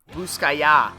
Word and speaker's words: Russkaja: voodoo and album by ruskaja you've been pronouncing it wrong this whole time dude you pronounce the j like a y yeah can you do